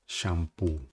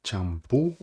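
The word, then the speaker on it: champú: Por exemplo, a gente não fala shampoo, tá? A gente fala como se fosse a gente fala champoo ou champoo.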